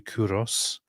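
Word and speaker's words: Κῦρος: Modern Persian is Kurosh. But from Kurosh into Greek, it was adopted as Kuros. So in Greek, it's actually Kuros.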